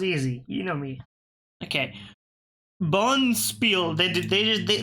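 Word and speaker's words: bonspiel: you know me okay Bon Spiel they they there's no D there's no see it's just Bon Spiel but they pronounce it Bon Spiel cuz it's from Dutch of course it's paron the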